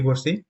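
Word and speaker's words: bu: তাহলে হ্যাঁ, তাহলে বির উচ্চারণ আমরা কি পড়ছি? ব পড়ে নেই, প পড়ছি। তাহলে কি বি ইউ হবে কি? পু হবে, পু।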